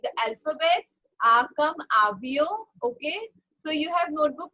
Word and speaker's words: avion: Okay, so today what we are doing, we are just writing the name like the alphabets, Akam, Avio.